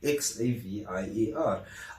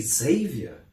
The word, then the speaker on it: Xavier: then I was like x a v i e r oh so it's actually Xavier and I was like no it's Xavier oh but wouldn't it